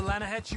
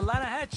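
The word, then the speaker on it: Lannahechee: rode down to the Lana Hetchy River I caught some beautiful steelhead trout you mean the Lana no no the Lana hatch it runs right near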